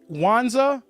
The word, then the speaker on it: Wanza: miss pride is it wanza yes yes the m is silent right the m is